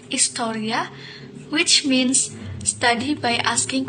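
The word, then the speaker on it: ἱστορία: Come from the ancient Greek historia, or pronounced historia, which means study by asking questions.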